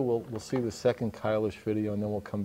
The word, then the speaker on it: Kailash: the second video by kylish actually one of the people on the crew is is German says it would be kylish if I was saying it properly which I'm probably not